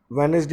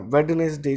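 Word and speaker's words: Wednesday: Question number 11 की बात करते हैं तो पहले तो थोड़ा सा ध्यान दीजिए, वेडनेस्ट, वेड नहीं होता, वेनेसडे ही बोला जाता है, वेडनेसडे नहीं बोला जाता, डी नहीं आएगा इसमें।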